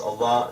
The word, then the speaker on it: Allah: aramaic and arabic and in arabic it's pronounced allah that it means god